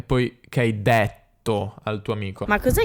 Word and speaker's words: detto: che il ha allora questa è indetto è dovuta al fatto che il milanese prima di una doppia t si dice sempre è tipo stretto ho letto quindi lei dice detto quindi ma cos'è che